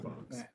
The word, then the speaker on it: Fuchs: It could be Haley Fox. But that's Fuch. Yeah, that's how you pronounce that name, Fox.